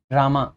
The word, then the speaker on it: राम: देखो, the Lord, भगवान, कौन से लॉर्ड, मैनिफेस्टेड एज रामा, वैसे राम पढ़ेंगे हम इसको, रामा पढ़ते हैं इंग्लिश में, लेकिन हम राम पढ़ना हमें ज़्यादा अच्छा लगता है।